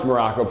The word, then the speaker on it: Maroko: I am Coach Maroko, pronounced just like the country, spelled absolutely nothing like it.